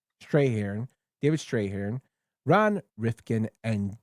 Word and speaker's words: Strathairn: I always get his name wrong. Strahan. Strahan.